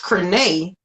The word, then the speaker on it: Crenee: My sister's name is Renee, and Coach Crenee rhymes with Renee.